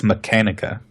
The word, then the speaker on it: Mechanica: I don't think it's Machina. Oh, it's Mechanica. Oh, is it? It's Tex Mechanica shotgun.